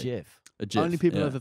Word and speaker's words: GIF: No, it's spelt with a G, but people pronounce it with a J. GIF.